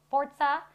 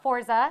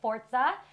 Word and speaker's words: Forza: note it is pronounced forza not forza just like pizza is pronounced pizza not pisa and i will say